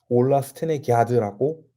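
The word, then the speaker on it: Ola Stenegärd: g r d 있데 a 위에 점이 두 개가 있나 그래요 그렇게 했을 때 아가 아니라 야 발음이 난다 그래서 전체 스펠링을 똑바로 읽으면 올라 스텐의 기아드라서 이제 앞으로는 올라 스텐의 드라고 또 부르도록 하겠습니다 그동안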